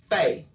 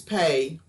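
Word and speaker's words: פ: makes the p sound without the nagish it makes the f sound this is the letter fei this is pay with the dagesh without the lagesh the letter is faith and it makes the f sound like in fun like in fair and faith has a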